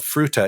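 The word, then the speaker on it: Fruita: Uh this is a real place called Fruta. It's spelled, as you might imagine, uh like the word fruit with an a at the end.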